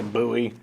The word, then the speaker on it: Bowie: machete or bowie machete i don't know how you pronounce it i've heard some people say bowie i've heard some people say buoy really okay i was